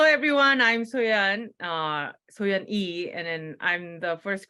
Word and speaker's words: Yi: differently and he said yeah a lot of Americans will sometimes pronounce ye when it's pronounced e they see the Y in English so so it is e and um and hopefully